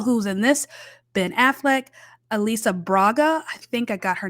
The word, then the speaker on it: Alice Braga: just as it's written my brain wants to phonetically pronounce that Alice Braga that's not right apparently it's Elisa Elisa Braga which is beautiful I